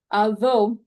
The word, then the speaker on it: though: y que aquí quiero llamar la atención a la pronunciación de though, la pronunciación del th es la siguiente. No es como una S, no es como una Z, no es como o como una D, no es como una T. La pronunciación de la del thesan su lengua en la parte superior de la lengua. Entonces, perdón, parte superior de los dientes.